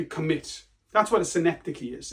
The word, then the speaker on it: synecdoche: That word is pronounced synecdoche.